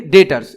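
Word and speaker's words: debtors: Sundry डेटर्स, इसमें B silent होता है।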